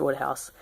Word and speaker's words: Wodehouse: say it is um I think it's pronounced Woodhouse is the second book